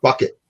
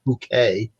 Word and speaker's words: Bucket: plays uh mr mr bucket that's his last name he marries this woman who's this terrible social climber and insist that they pronounce it bouquet and she's always trying